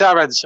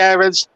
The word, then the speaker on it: Aarons: i'm gonna say max aaron's a lot of commentators say errands some say aarons i'm the i'm in the irons camp um so i'm gonna i'm gonna stick with that pronunciation it's almost like the